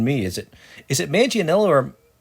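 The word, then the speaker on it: Manganiello: short shorter than me is it is it manganello or manganello uh yeah let me uh let me let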